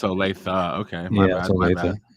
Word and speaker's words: Olathe: Yeah, it's actually pronounced Olathe. What did I say? Olathe. Oh, it's Olathe.